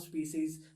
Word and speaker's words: species: most intelligent form of species that are left. Species. Guys, nice. That's how you pronounce it. Species. Yeah, that's how you pronounce it. That's the point. Species. Spices कौन बोलता है?